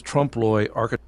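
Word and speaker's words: trompe-l'oeil: that is mural's design trump loyal he said trump loyal the painter richard haas for instance is known for his trump lawyer trump lloyd trump loy okay that's how he pronounced it i'ma go by that trump loy his trump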